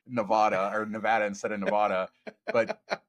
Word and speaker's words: Nevada: got so much shade for all of our mispronunciations for saying Vegas Policy should say Nevada or Nevada instead of Nevada.